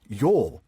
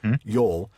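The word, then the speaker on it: jól: it's cognate with an old Norse word Yol J L with the little symbol over the O Yol and relates to a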